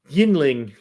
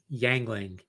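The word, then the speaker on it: Yuengling: Yingling. Oh, Yingling. Yeah. No, how do you say it? Yingling. No, you don't. Yangling.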